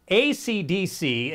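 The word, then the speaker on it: ACDSee: It is called ACDC, except the C at the end is spelled S-E-E.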